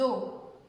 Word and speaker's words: eaux: L'eau qu'on boit, l'eau, les eaux. Donc, ça ne se prononce pas.